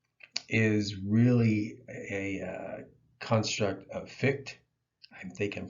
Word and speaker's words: Fichte: antithesis, and synthesis is really a construct of Fichte. I think I'm pronouncing his name right, Fichte.